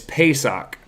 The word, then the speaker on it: Pesach: what they would what they would refer to this as is is Pesach is is what they would what they would pronounce that as and that basically comes